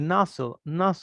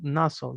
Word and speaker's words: nozzle: Sweep, the nozzle, miren esa pronunciación, nozzle, de nuevo la LE, o sea, consonante LE va más hacia la O.